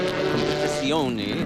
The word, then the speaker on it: competizione: Competition. Competizione, as they like to have it pronounced. Well, they are Italian after all.